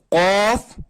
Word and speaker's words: ق: کاپ کاپ نہیں ہے، اصل میں یہ ہے کہ قاف پھر یہ کیف. یہ قاف، یہ ہے کیف. یہ قاف کو موٹا پڑھنا ہے، موٹا موٹا پڑھنا ہے، اور اس کو کیف ہلکا باریک پڑھنا ہے.